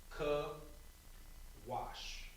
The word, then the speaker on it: Cush: And now, this is going to be pronounced Kawash. Kawash. And now this one will be with the soft ka as well.